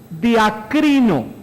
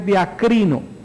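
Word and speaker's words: διακρίνω: una palabra muy importante es una palabra que más o menos se pronunciaría así diakrino a ver diga usted diakrino diaco Esta es una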